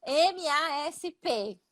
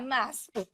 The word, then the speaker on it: MASP: Olha essa pronúncia, né? Bem brasileira. MASP. Um hispano vai falar MASP. Vai bloquear o som, MASP.